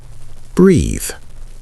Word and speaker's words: breathe: Practice both out loud. Breath, breathe. Breath, breathe. You should feel the difference. Breath is short and stopped. Breathe is longer and open.